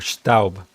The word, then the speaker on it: Staub: The ST in Staub pronounced like how you'd say shtick, or Schaub, or Staub.